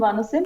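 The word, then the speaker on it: Vanxim: spelled van v n x i m it's pronounced vanim and it can be accessed from D so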